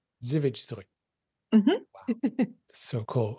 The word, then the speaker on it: Żywiec Zdrój: I can't pronounce it. Yeah, it's a Żywiec Zdrój. Żywiec Zdrój.